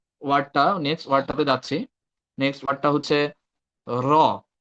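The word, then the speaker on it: راء: Next ওয়ার্ডটা হচ্ছে র। তো এটাকে হচ্ছে সিম্পল মনে হচ্ছে, বাট এটার আহ উচ্চারণটা একটু অন্যরকম।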